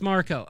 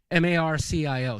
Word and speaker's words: Marco: It's Marco. Okay, got it. It said Marcio in your original message. That's why I mispronounced it. Marcio. So Marco. Got it.